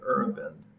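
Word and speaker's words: Aravind: Now let's take a quick trip to India and check out the Irvan eye care system's medical activities there. Irvan, that's spelled A-R-A-V-I-N-D, was established in 1976 by Dr.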